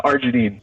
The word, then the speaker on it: arginine: second one about the google doc it's uh arginine arginine how do you spell it a-r-g-i-n-i-n-e got it all right this is